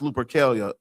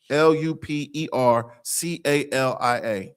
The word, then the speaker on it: Lupercalia: Look up Lupercalia. It's pronounced Lupercalia. Lupercalia.